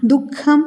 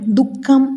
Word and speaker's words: ദുഃഖം: ഇവിടെ മുഖ്യമന്ത്രി എന്നതിന് പകരം മുഖ്യമന്ത്രി, മുഖ്യമായ എന്നും ദുഃഖം എന്നതിന് പകരം ദുഃഖം എന്നും ഉച്ചാരണ പിശകുകൾ വരാതിരിക്കാൻ ശ്രദ്ധിക്കുമല്ലോ.